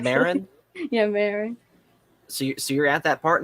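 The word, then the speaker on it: Merrin: Mira, I don't know how to pronounce her name correctly. Marin? Yeah, Marin.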